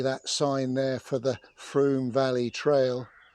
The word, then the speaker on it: Frome: Just to clarify the pronunciation of the river, is it River Frome, as in Broom, or River Frome?